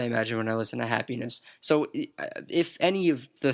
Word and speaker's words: Happyness: I'll certainly revisit, is Happyness. That is happiness spelled with a Y instead of an I.